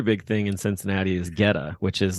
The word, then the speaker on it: Goetta: Goetta, Geta, and it's pronounced Geta. G as in George.